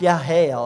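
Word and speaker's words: Jael: flees to yales tent it's pronounced yah hail actually in hebrew and yahail was a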